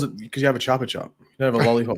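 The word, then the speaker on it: Chupa Chups: The Chopper Chop. That's how you pronounce it. Not Chupa Chup or whatever you're saying.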